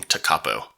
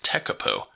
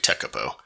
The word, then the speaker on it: Tekapo: of heading up North how would you pronounce this if you're Carolina and I then you're probably thinking takapo apparently it's tekapo and that's exactly where